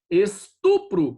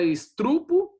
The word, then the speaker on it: estupro: Estupro, tem gente que fala estrupo, e estrupo é um barulho alto, existe a palavra, tá bom?